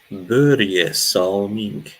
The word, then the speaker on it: Börje Salming: Börje Salming. That's how you pronounce it, Anuj.